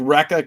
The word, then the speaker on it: Recca: It is called Recca Comics, and it is pronounced just that way.